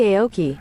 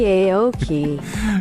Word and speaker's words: Aoki: It's our Pronounceify lady. Rocky Aoki.